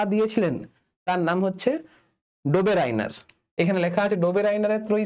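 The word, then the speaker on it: Döbereiner: আমি ডোবেরাইনার বলে উচ্চারণ করি, অনেকে ডোবেরিনার বলে উচ্চারণ করে।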